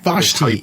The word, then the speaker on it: Vashti: starts off on a planet I think it's vashti vashti yes actually how you pronounce it and adventures coming up an awful